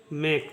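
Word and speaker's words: make: उच्चारण क होगा ठीक ई का कोई उच्चारण नहीं होगा इसको पढ़ेंगे मेक इसको पढ़ेंगे मेक ठीक है उसी प्रकार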